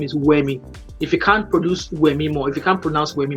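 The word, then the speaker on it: Wemi: I called you I said my name is uemi if you can't produce me more if you can't pronounce w e m i it's simple stop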